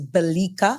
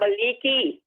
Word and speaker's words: Balika: Well, on his behalf, and as just stated, the correct pronunciation is Balika, Balika. I thought it was Balika. And he's asking me to give you his love. Yes. I know I heard Balika. Balika. Not Baliki. It's Balika.